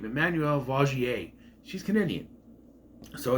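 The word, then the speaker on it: Vaugier: I'm sure she would put on some kind of sob, facade, but Emmanuel Vagier, which I've been pronouncing wrong the entire time, it's Vagier.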